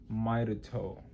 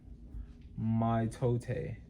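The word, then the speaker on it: mitote: Your whole mind is a fog which the toll text called a mito pronounced mto mto.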